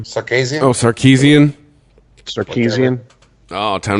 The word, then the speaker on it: Sarkisian: The fact that Kyle Shanahan left the Falcons, and then how do you pronounce his last name? Sarkisian.